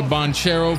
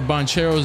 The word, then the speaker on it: Banchero: can we universally agree i heard that bonchero's name is actually pronounced bonkero yesterday can we universally agree